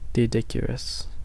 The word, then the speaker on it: Doedicurus: The L was silent. Oh, okay. So it is Didicurus.